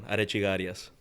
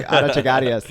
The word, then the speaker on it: Arechiga-Arias: Arechiga-Arias. Arechiga-Arias? There, you got it. Yo, stop playing with me. Arechiga-Arias.